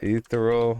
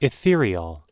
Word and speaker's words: ethereal: word today let's go uh ethero how do you say it it's pronounced ethereal ethereal which means extremely delicate